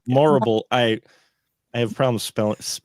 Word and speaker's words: Morrible: Horrible rhymes with horrible. That's the way to remember. Morrible.